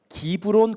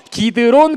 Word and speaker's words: 기드론: 그건 바로 기브론 골짜기. 따라해볼까? 기브론 골짜기. 미안해요, 기드론 골짜기. 선생님 발음이 조금 안 좋구나.